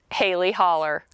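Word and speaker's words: Hailey Hollow: Now, for those of you from the city, it is spelled hollow, but we call it Hailey Holler.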